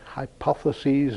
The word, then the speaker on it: hypotheses: He said, hypotheses non fingo, except I'm pronouncing the word hypotheses as if it were English rather than Latin.